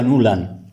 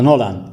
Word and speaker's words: Nuland: Estoy hablando de Victoria Nuland, o Nolan, como queréis pronunciarlo. Es la misma que provocó